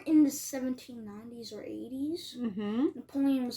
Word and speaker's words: Napoleon: Okay, so We don't do you know about Napoleon?